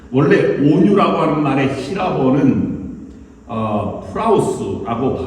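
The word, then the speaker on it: πραΰς: 원래 온유라고 하는 말의 히라버는 프라우스라고 발음합니다.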